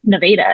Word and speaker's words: Nevada, Missouri: I lived in Arkansas, but that's how they pronounce it. Nevada. It's not Nevada.